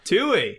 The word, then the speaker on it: Twohy: It's David Twohy. Yo! Oh my gosh! It is literally spelled Twohy. It was a really wide swing, but I think I knocked it out of the park, right? Yeah. Twohy.